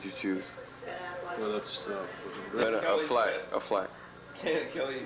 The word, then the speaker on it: Affleck: Ben Affleck. Kelly. No, it's Ben Affleck. Affleck. She said it right. It's like Bullback. Affleck. Ben Bullback. Affleck. It's Bullback. actually Hands down, Ben.